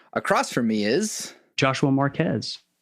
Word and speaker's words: Marquez: You're the second Marquez I've had on, and the first one I had on, I realized that it was pronounced Marquez and not Marquez.